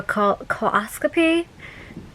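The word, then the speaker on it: colposcopy: And that annual came back abnormal, and they're like, okay, well, we gotta do a coloscopy. That's how it's pronounced.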